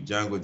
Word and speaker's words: Django: Like that movie, Django, the D is silent.